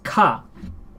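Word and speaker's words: ヶ: This may be the katakana for ke, but in its context as a counter, it is used as ka. And what is ka? And what is this ke that's pronounced ka in this context?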